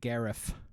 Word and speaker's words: Gareth: Yeah, you got to pronounce it Gareth.